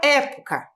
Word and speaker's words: época: E a palavra época. Então, olha aqui, ó. Época. Também tenho 3 sílabas. Última, penúltima, antepenúltima está acentuada.